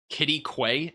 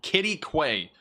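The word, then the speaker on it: Quitaque: vigilant and weather aware Kitty Quay it's called Kitty Quay that's the pronunciation all right let's go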